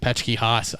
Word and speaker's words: Petschke-Haas: seen your last name yet, but I think it's PECHKIHOSS. No. no. That's exactly how it sounds. No, it's PETSCHKE-HAAS. HAAS.